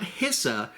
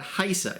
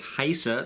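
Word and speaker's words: HISA: uh first of all it is pronounced not hissa but haisa it is a long eye so we all want to make sure that we get it right from now on it is haisa that we're talking about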